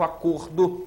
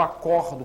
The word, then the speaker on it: acordo: né então o ver o substantivo acordo tem um som fechado o verbo acordo que tem um som aberto portanto a pronúncia é